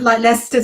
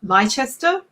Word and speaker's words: Leicester: used to that like leicester square is quite popular but it's like she's about lychester so um i think it's just an english yes yes or british way of yeah pronouncing certain words exactly well let let's